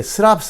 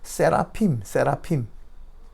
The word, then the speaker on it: 세라핌: 그리고 뒤에 스랍 하는데 스랍이 아니고요. 세라핌.